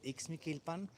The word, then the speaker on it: Ixmiquilpan: But right now, we're in Mikilpan. Um and is a real place. The name is hard to pronounce, but it's real. It's called Mikilpan in the state of Idalgo.